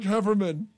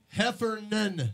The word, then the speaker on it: Heffernan: Mark Hefferman. Heffernan, not Hefferman.